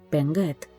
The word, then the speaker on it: Bengerd: desconfianza por los daneses, los cuales la llamarían despectivamente Penget, y pese a que es así como los daneses pronuncian su nombre en su lengua, tal palabra se convirtió